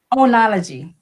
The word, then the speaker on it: enology: So, how do you pronounce what is it? Onology.